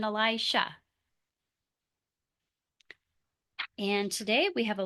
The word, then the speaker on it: Elisha: Those names sound very similar, but they are not the same. One is spelled with a J and one is spelled with an sh. Elijah and then Elisha.